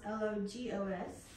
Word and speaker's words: logos: to show you something so again logos logos is the Greek pronunciation and then in English